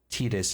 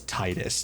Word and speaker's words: Titus: It's like Tetus and Titus. It's Titus.